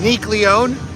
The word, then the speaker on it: Nique Leone: from ion Park and uh her name is Nick Leon how do you spell that it's n i quu e l e